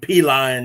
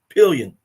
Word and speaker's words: Pillion: It ain't P-lion, y'all. It's Pillion.